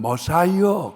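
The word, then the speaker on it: Messiah: 구원하실 자 메시아 메시아예요 이것을 영어로는 머사이어 그렇게 발음하고요 할라 말로는 그리스도 이렇게 얘기하고요 히브리 사람들은 메시아 이렇게 발음을 하죠 근데이 메시아 되시는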